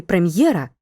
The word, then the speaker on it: прем'єра: слові musicл його немає так у слові прем'єра після літери м на позначення губного приголосного перед є ставимо апостроф адже чуємо тверду роздільнону вимову натомість у слові musical